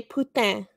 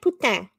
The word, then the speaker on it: putain: We say putain. Putain? Is that how you say it? Putain.